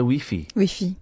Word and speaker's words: Wi-Fi: Um, in France they pronounce Wi-Fi. Wiffy, we um so um and also there were just a bunch of really rude people on Periscope.